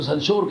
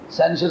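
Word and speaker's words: censure: سینشر ہو سکتی ہے، جس کو سنشور کہتے ہو، سینشر صحیح تلفظ ہے، سینشر اس میں ہو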